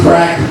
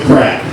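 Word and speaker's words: craic: to do, you say where's the crack? Or how's the crack? Now it's spelled C R A I C.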